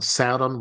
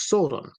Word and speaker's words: Sauron: he pronounces the word Saodon. And he pronounces it to my ear at least in at least two different ways. One Saudon, once Sordon.